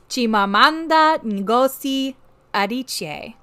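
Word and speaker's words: Chimamanda Adichie: I actually have the playback of the proper pronunciation because it is important to me that I play this for you all okay Chim adich okay so that is her name you will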